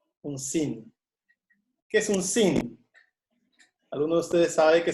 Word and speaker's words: zine: En realidad se escribe sign, pero se pronuncia sin, y viene de la palabra magazine o fanzine.